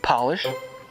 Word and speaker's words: Polish: When you capitalize each word, they are pronounced differently. Instead of job, it's Job. Instead of polish, it's Polish. And instead of herb, it's Herb, the name.